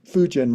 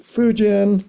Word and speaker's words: Fugen: By the way, I go to Daibasatsu for 40 days and 40 nights, and they tell me I've been pronouncing Fugen wrong. So it's Fugen for future generations.